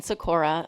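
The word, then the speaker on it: Sikora: and commission members uh my name is sakur I am the President of Uptown Menor LLC sakur is spelled s i k o r a and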